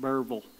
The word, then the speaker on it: Berryville: How do you pronounce it? Burville. Burville. It's actually Berryville, but.